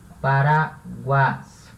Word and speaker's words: paraguas: A sílaba tônica é ra. Paraguas, né?